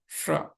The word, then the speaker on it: श्र: भी प्रॉब्लम आती है श्र तो श्र कई लोग इसको बोलते हैं श्र स जो पहले वाला स था ठीक है एंड त थ धा वाला जो स था त थ धा स तो ये पहले वाला नहीं दूसरे वाला श है जिसमें थोड़ा जीभ को पीछे मोड़ेंगे ट ट ड ड श वो वाला है ये तो श्र श्र ठीक